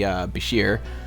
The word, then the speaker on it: Bashir: thought one of the Bashir pronounced like the name of the doctor in Star Trek Deep Space Nine and one of the